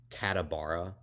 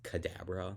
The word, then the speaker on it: Cadabra: He's like Katabara. It's Kadabra because it was like abracadabra.